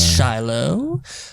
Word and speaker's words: Shiloh: It's Shiloh. Good job, Guy Guy blow. Blow. Yeah. It's like he's like, you said it wrong. It's Shiloh.